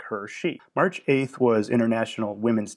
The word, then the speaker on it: Hershey: And they were taking advantage of the happy accident of their name, which phonetically sounds like Hershey.